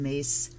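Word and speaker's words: Myss: house does um carolyn mace and she does pronounce her name mace archetype cards an 80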